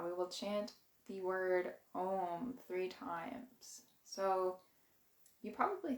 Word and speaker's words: Om: gonna chant this word we need to pronounce every syllable so we do the a the u and the m and it's just through